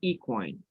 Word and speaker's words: equine: word is equine so you have the stress on the first syllable and the pronunciation is equine are you there yeah